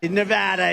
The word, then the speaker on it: Nevada: we love it and you always have to say it correctly Nevada you got to call it Nevada with thousands of proud